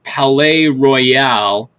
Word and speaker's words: Palais Royale: Palais Royale, if I heard them. Yeah. You're saying it right.